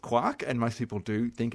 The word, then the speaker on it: quark: still be pronounced quark, even though it looks like it's meant to rhyme with the word mark.